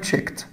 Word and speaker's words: checked: الماضي بتاعها checked. checked. بعد الكه ساوند الاي دي دايما حبايبي بتنطق تا.